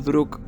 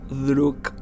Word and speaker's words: Друг: La criatura recibe su nombre de la palabra rusa para amigo, pronunciado como Druk o Druk.